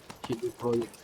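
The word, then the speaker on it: CD Projekt: CD Project pala yung Take it easy.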